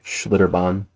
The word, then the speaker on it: Schlitterbahn: Schlitterbahn.